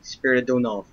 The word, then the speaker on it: Spiridonova: I know it's not Maria Spinach, but I do not know how to pronounce her name. Spiridonova. There are meeting the left SRs in Moscow. Maria Spiridonova was assassinated by members of Savinkov's combat squads.